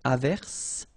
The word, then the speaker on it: averse: j, same thing here, averse, okay, S is pronounced, the E is not pronounced.